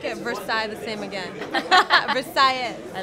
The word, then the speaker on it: Versailles: Versailles. I like it. You're pronouncing it correctly, like a true Miamian.